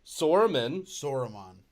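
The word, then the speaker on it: Saruman: brain gandalf sauron no soreman yes wait sore is that how you say his name yeah s-a-r-u-m-a-n yeah this weed is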